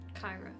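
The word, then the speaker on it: Kyrah: But is it in that moment that the um Kira Kyra Kyra right Kira Kyra Oh, I said it wrong.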